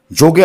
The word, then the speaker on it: যোগ: ওই জন্য তারা যোগকে যোগই রেখে দিয়েছে, চেঞ্জ করেনি কোনো রকমভাবে। এবার তারা করে দিল যোগা। কেন যোগা করলো? কারণ ইংরেজরা অ উচ্চারণ করতে পারে না, ওরা অকে আ উচ্চারণ করে।